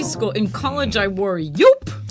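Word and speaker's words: Joop: In college, I wore Yoop. Yope. That's with a silent J, or a J is okay.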